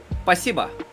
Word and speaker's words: Спасибо: Спасибо.